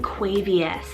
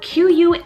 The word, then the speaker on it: Quavious: to find any information on is the name quavius spelt q-u-a-v-i-o-u-s quavious now if anybody listens to hip-hop or